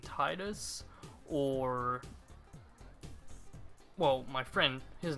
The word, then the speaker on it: Tidus: the first controversy of the game how to pronounce his name it's supposed to be tedious but I've grown up all my life either saying Titus or well my friend his name was Titus